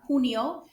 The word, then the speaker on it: junio: Repita, enero, febrero, marzo, abril, mayo, not mayo, mayo, junio, with a sound, an H sound, junio, julio, agosto, septiembre, octubre, noviembre, and diciembre.